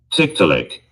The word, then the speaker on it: Tiktaalik: I think that might be a better pronunciation. Let me see. Tiktaalik. Tiktaalik.